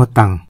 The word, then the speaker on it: ทัง: สะกด ด้วย ตัว ง คำ ว่า ทัง ตัว ง ก็ เป็น ตัว เชิง อ่าน ออก เสียง ว่า ตัง คำ ว่า หลาย ตัว